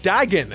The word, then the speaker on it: Dagon: Dagon is his name and how it's pronounced, actually.